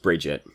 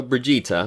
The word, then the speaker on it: Brigitte: today we are gonna talk about Bridget let's maybe actually say her name correctly at least once in the video Brigitta we're gonna talk about